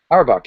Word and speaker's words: Auerbach: Auerbach, yeah.